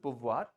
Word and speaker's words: pouvoir: Pouvoir. Pouvoir. Voilà. So VOIR voir. हाँ, देखिए, yeah. OI is ua, V लग गया तो व और R को touch करना है.